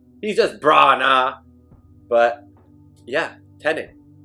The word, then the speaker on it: Branagh: You got Kenneth Branagh. If I'm saying it right, he's just Branagh.